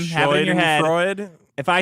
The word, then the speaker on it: Schadenfreude: I just know right now somebody in the comments is going, does Vito actually think Schadenfreude is pronounced shooting fruity?